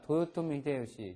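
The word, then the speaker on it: 豊臣秀吉: 이름이잖아이 우리나라 침략했던 저기잖아 뭐라고 읽어 도요토미 히데 시라고 읽는 말이야 도요토미 히데요시 좀 일본어 배우는 사람은 최소한 고유 병사에 대해서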